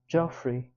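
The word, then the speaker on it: Geoffrey: It's Joffrey, but with a G, not a J. It's spelled G E O F F R E Y.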